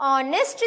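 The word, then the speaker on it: honest: अब ऑनेस्ट जो है वो मैं प्रोनाउंसिएशन ऐसा कर रही हूं कि एच आपका कट हो रहा है या फिर एच आपका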